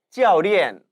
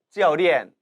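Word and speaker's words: 教练: 여기에서도 教练 사성으로 발음되기 때문에 교련, 즉 훈련하고 가르치는 사람, 코치가 되는 겁니다. 따라 읽어보시죠. 教练教练 코치입니다.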